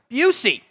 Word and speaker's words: Bussey: first down for Terry Busey. I think it's Busey and not Bussey. I think that's how he pronounces it.